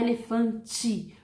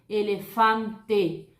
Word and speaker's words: elefante: Se eu tenho a palavra elefante, eu não vou falar elefante, porque o brasileiro, né, para falar italiano e espanhol, o brasileiro tem mania de colocar o som de I no final. Isso não acontece, gente, nessas línguas latinas, tá? No italiano, no espanhol, você tem que pronunciar de forma correta. Se é E no final, você vai falar esse E, elefante.